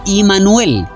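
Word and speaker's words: עמנואל: que Yeshua es Emmanuel, que en hebreo se pronuncia Immanuel, y esta se divide en dos partes.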